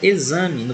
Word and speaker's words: examen: Observe que a palavra exame no português, o X tem som de Z. Como não existe som de Z no espanhol, não a pronunciaremos com som de Z, logicamente, e sim com som KS, examen.